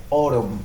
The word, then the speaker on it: autumn: Autumn, no, diría autumn. O. La combinación de las vocales A, U es O.